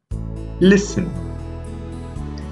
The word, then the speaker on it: listen: This time the letter is T. Often, Nestle, butcher, hustle, listen. Here, we haven't pronounced the letter T.